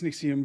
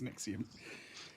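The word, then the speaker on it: NXIVM: It's pronounced Nixxium that I've never known how to pronounce it. Yeah, I think it's Nexium, but you hear people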